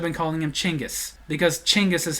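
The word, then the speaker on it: Chinggis: us to finally realize we were calling him gangas Khan when we should have been calling him chingis because chingis is how you actually pronounce his name I made the joke in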